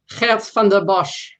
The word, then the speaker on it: Geert Vanden Bossche: The curious case of, and please pronounce his name again for me. Geert Vanden Bossche.